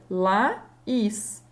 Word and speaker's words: Laís: Laís. Então, eu consigo fazer essa pronúncia separada.